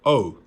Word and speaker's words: OU: was the package arrival of the two albums by O, which is the pronunciation. I wasn't sure how to pronounce it, but apparently it's pronounced O.